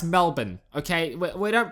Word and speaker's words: Melbourne: Before I move on, it's not Melbourne or Melbourne, however you fucking Americans pronounce it. It's Melbourne, okay? It's not, we don't pronounce it the way it's spelled, but it's pronounced Melbourne, okay?